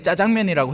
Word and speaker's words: 짜장면: 효과라고 읽어도 된다고 하죠 자장면도 마찬가지입니다 그죠 사람들이 보편적으로 많이 쓰니까 이제 짜장면이라고 해도 된대요 뭐 중요한 건 이게